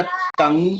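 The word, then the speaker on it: 邓: DENG बनेगा तंग। अभी तो ते की साउंड मैंने बताई है कि डी के लिए ते होता है।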